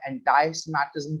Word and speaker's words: anti-Semitism: नाज़रीन, आज हम डिटेल में बात करेंगे एंटी सेमेटिज्म के ऊपर, इसको प्रोनाउंस किया जाता है एंटाई सेमेटिज्म के नाम से भी, और इसके साथ साथ हम ज़ायनिज्म के ऊपर डिटेल में बात करेंगे।